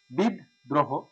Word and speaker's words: বিদ্রোহ: এবার একটু তাহলে বের করি, বিদ্রোহ, বিদ্রোহ, দ্রোহ, সঠিক উচ্চারণ হচ্ছে দ্রোহ, বিদ্রোহ, এটা হচ্ছে হসন্ত, বিদ্রোহ, অর্থাৎ দয়ের সাথে রফলাটা ছিল, এই জন্য আমি দটা আগে বের করে নিয়ে এসেছি।